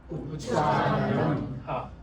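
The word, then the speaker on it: Uccāraṇam: Can you say that? Ucharanam. N dot. Ucharanam.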